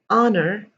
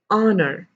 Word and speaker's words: honor: started with it was honor honest air herbal you do not pronounce the h over here at all the h over here